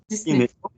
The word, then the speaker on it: Disney: Comme 10 et né. Disney. Disney. Oh, Disney. On prononce comme ça en français, ouais.